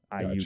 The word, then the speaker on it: Iuka: Yeah, I don't even remember how you said it, but it's I like your I, a long U, and then ka, Iuka.